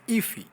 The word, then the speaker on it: IIFE: ways to Define iife in order to make it easy to pronounce we call it as iffy now inside this left